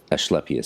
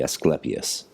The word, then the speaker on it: Asclepius: So ASC is ash, would be creating AS, Asclepius sound, whereas if it was classical Latin, it would be Asclepius, just like Trismegistus in ecclesiastical Latin and Trismegistus in classical Latin.